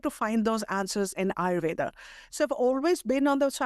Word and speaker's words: Ayurveda: So you came into Ayurveda. Is that how you pronounce it?